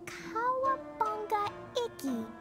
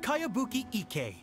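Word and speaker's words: Kayabuki Ikkei: of it hmm by cowabunga icky this is a really strange name who's this cowabunga it's pronounced kaiabuki ek that would be me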